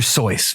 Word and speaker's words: Seuss: Seuss made this stuff up you mean dr. sois rhymes with Joyce what we can do